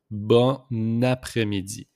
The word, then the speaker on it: bon après-midi: We just make the liaison here with the N and A. So it pronounced bon après-midi.